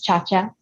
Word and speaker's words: Ciaccia: Yeah, I'm most active on Instagram, which is SCIACCIA, pronounced as Ciaccia.